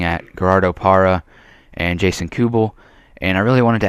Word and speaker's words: Kubel: So I decided to do this trade, and it's for Jason Kubel, I believe how you say it, Kubel, like with a Q, for Brett Cecil and 2 prospects.